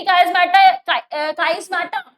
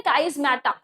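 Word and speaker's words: chiasmata: देखो, इट इज the part of attachment, यानी कि काइस्मेटा, इसको प्रोनाउंस हमें अच्छे से करना है, काइस्मेटा।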